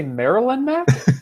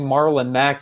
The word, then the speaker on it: Marlon Mack: But before I go on, Rob, did I hear you say Maryland, Mac? I forgot to bring that up. Maryland, Matt. I can't pronounce it right. I've had trouble with that one.